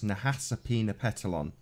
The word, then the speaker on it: Nahasapeemapetilon: ma p ET IL o n so it's Nahasapeemapetilon apoo so I was pretty place so how's